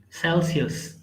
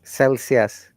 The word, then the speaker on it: Celsius: Celsius. Celsius.